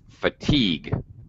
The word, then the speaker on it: fatigue: uh okay uh heidi fatigue this is uh this is one of those tricky words that has second sorry second syllable stress yeah fatigue right right